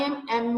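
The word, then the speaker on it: M.A.: अब हम अगर उसकी स्पेलिंग देखें वो तो एम से स्टार्ट हो रहे हैं, लेकिन अगर उसकी प्रोनाउंसिएशन देखें तो वो ए से स्टार्ट हो रही है. मींस आ साउंड से एम ए, कि उसने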